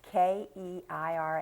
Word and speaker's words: Keira: And I want everybody to try to go to the website for Keira, and it's Keira, and